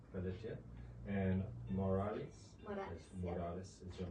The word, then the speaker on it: Pelletier: Pelletier. Pelletier.